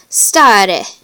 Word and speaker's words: stare: The long vowel A is pronounced like the A in father. An example Latin word that contains this vowel is stare, which means to stand.